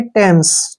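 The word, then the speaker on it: Thames: ए एम ई एस इसको हमने थम्स नहीं पढ़ना है इसको हम पढ़ेंगे टेम्स ठीक है ना ध्यान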